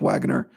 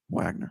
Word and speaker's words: Wagoner: There's Nick Wagoner. And I asked him today, I said, what is the O silent or not? He said, yes, the O is silent. Nick Wagoner, right?